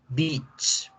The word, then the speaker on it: beach: Playa se pronuncia con la I larga, ¿cierto? I larga, vamos a ponerla aquí de ejemplo. Playa, se escribe beach, pero se pronuncia beach, beach, beach, beach. Alargo la letra, beach, beach, beach, beach. Esta palabra, si ustedes no la pronuncian bien, la gente se las va a confundir con perra, bitch, que es el femenino del animal.